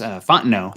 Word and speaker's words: Fontenot: Do you know if that's Fontenot? Fontenot, excuse me. I see okay. We have Richie Rich in here correcting us. Fontenot. Thank you, Richie Rich, keeping us Cajun. on the pronunciation.